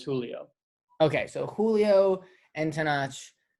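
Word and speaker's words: Tenoch: the two main characters, Tanakh and I pronounced that so wrong. And I'm what is it? It's Tenach. Tanach.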